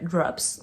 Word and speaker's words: Drops: Drops, à chaque fois je prononce pas le S, mais mon prof d'anglais dirait Drops, donc on prononce le S.